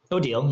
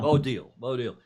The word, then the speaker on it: Odile: sometime, that her dad, Deal Van Aanholt's, the Deal, is that how you say her name? Odile, yeah. Odile.